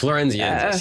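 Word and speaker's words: floresiensis: Am I pronouncing that correctly? Florenzian. Florenziensis? Florenziensis, yeah, Florenziensis.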